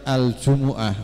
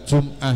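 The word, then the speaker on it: الجمعة: di al-qur'an itu berbeda kalau al-qur'an itu membacanya jumuatun ada surat namanya surat aljumuah bukan jumah tapi Al Jumuah jadi jumuatun fuulatun kemudian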